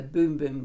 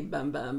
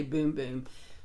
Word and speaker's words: Bum Bum: they pronounce it the boom boom cream that i think that uh you can probably say bum bum but when you go to their website they say boom boom love this love this